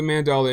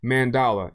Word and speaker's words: Mandala: All right, so go on and head on over to the Mandela Exchange. Am I saying it wrong? Yeah, I am saying it wrong. Mandala, it's Mandala.